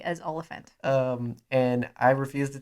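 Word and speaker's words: Olyphant: oliphant does cob vamp yeah i love timothy olivier and stop it we have a running disagreement because i have grown up my entire life calling him timothy olivier and i pronounce it correctly as oliphant um and i refuse to take correction you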